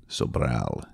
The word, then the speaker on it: Sobral: He told me to say it like that. Sobral. You have to roll the R.